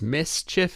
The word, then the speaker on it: MSCHF: It's Mischief is the company, but they spell it MSCHF.